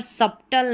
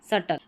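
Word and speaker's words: subtle: ठीक है, doubt, doubt, अब डाउट बी नहीं पढ़ा जा रहा, यहाँ पर डेप्ट नहीं पढ़ेंगे, डेट, और यहाँ पर सब्टल नहीं, सटल।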